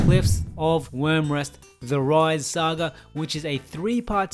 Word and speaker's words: Wryz: clarified with me that her name is pronounced rise and not Riz uh another Eden Adventure is yes it is pronounced rise uh I I had